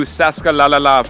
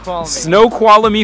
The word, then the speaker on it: Snoqualmie: we've come here to Sasuke lalala Falls I don't know how the hell you pronounce that no Kuala me Snoqualmie Falls there's a massive waterfall